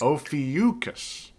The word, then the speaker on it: Ophiuchus: When you say his name, just think of the Soulja Boy song.